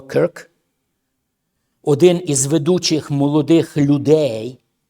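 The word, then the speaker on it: Kirk: Слідуюче, зараз ми бачимо, що відбулося в Сполучених Штатах Америки, коли Чарлі Кірк, Крк, Кірк, правильна вимова, Крк, один із ведучих молодих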